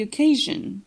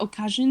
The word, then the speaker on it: occasion: On dit pas occasion, but occasion, comme Kate. Kat, la voyelle n'est pas tendue. Kate, la voyelle est tendue.